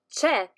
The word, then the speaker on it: c'è: sieta brandi and yamo we use che to say there is and chisono to say there are as you can notice our